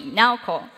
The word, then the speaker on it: Naoko: How to remember this name is pretty easy. Now, like right now, and a company, Naoko. That's how you say my name.